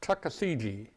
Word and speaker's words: Tuckasegee: It's spelled just like it sounds, Tuckasegee.